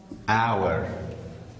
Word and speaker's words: hour: Pronounce it what? Hour. H is not pronounced here. Minute. Okay? You know the meaning of minute. Second. Okay? Half. Nim. Quarter. Row. Okay? There are the words. How do you pronounce? Hour. Hour. Not hour. H is silent here.